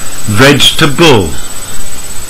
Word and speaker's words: vegetable: to the fool again people often count four syllables but native speakers say only three vegetable with number three learners usually say comfortable but